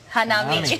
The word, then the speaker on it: hanami: Hanami.